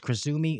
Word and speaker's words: Cruzumi: uh krisumi uh Kumi so just so you know it is spelled c u zuu Mi uh so it's kisumi CFO and advisory um